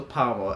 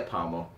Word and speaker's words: parmo: reason, you get a parmo. Simple. How's that? Palmo? Parmo. Palmo. Pommel. You need Like the a accent. pummeling? You need the accent a bit to say it properly.